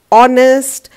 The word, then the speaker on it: honest: starting with h but the sound which is coming is of a vowel h is silent here so we will write an here r is pronounced as our and honest is pronounced as honest with a vowel sound